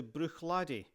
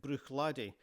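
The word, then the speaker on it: Bruichladdich: On the western shore of Lockendal we come to Brook Ladi. Now in this word the ch at the end is silent. So, we get Brook Ladi, and this means Bray by the shore or slope by the shore.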